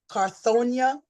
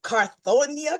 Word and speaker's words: Carthornia: Oh, please give us the proper pronunciation of your name, Sister. Carthornia. Carthornia. Yes, Oh, I like Carthornia.